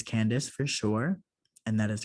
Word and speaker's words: Candace: I know it's Candace for sure, and that is correct.